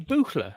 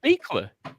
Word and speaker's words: Buchler: See, I always assumed it was German, so it'd be Buchler, right? Buchler, yeah. It's but German. It's pronounced as Beekler. Beekler.